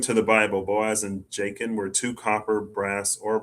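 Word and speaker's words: Jachin: I want to say I want to pronounce the J like a H. Jacken. I know that's not right. I could probably Boaz and Jacen Jacen I'm gonna say Jacen Jacin J A C H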